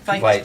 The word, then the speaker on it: Veit: Vite. Vite? Vite. I always say it wrong. Yeah. Vite. They spell it, it should be V-I-E. It's Vite. V-I, but Vite.